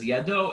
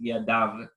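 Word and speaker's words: ידו: So here it says Yado, it's pronounced Yadav.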